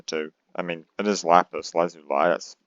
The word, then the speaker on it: lapis lazuli: differentiate between the two i mean it is lapis lazuli that's how it's pronounced and it's also laughs because that's how